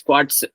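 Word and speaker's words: quartz: This is quads is spelled S with an S here. Actually, it's quads.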